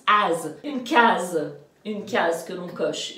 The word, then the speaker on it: case: un case, Alors oui, parce que quand il y a un S entre deux voyelles, c'est le son Z.